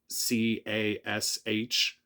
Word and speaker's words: cache: If you say cash, it's going to type in CASH, but I'm pretty sure it's cash, CACHE. So, anyway, I'm just going by the Google preferred pronunciation.